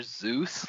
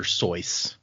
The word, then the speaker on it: Seuss: Zeus, like the god of thunder and lightning. Oh. So Somebody then I just had told me, like, yesterday that his name was originally supposed to be pronounced Dr. Seuss.